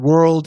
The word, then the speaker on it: world: you so much thanks shane word is one syllable and world is two syllables yeah that's the good way